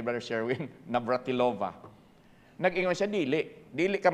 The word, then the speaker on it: Navratilova: player talent it was just luck but Martina Navratova one of the greatest player tennis players of all time did I say it correctly brother Sherwin Navratilova nag-ingon siya dili dili ka makaabot ana ng